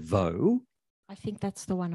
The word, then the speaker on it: Vaux: England of his time, it was pronounced Vaux to rhyme with hawks. So he might have said Vaux. I mean, that's a possibility. He might have used the French pronunciation and said Vaux.